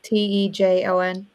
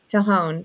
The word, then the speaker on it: Tejon: Tejon? Tahone. Tahone Ranch.